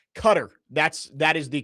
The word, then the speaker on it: Qatar: way it's pronounced. Qatar.